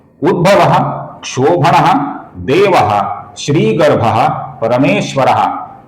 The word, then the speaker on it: उद्भव: पहला नाम है उद्भव यहां पर कुछ लोग उद्धव ऐसा बहुत ही गलत उच्चारण करते हैं। इस नाम का भगवान श्री कृष्ण के साथ जो उद्धव रहते थे उनसे कोई भी संबंध नहीं है। ये नाम उद्धव नहीं है। यह नाम उद्भवाह है। इसका सही उच्चारण कीजिए दोस्तों।